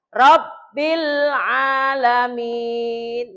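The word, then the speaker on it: رَبِّ الْعَالَمِينَ: Contoh, Robbil mateni L, mateni alif lam. Nah iki makan ora ketok alif lam. Ya toh? Nah, kalau ini kelihatan. Robbil alamin.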